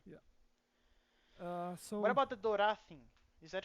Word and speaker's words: Dora: What So about the Dora thing? Is that how you say it? Dora, yes.